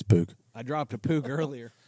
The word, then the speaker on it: Puig: I used to call him Puig, and then I realized through the LIV broadcast that it's Pug. Pug. It's just a little Pug. It's Pug.